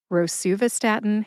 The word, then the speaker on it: rosuvastatin: Rosuvastatin has 5 syllables. Ro, like you row a boat. Sue, like the nickname for Susan, Sue.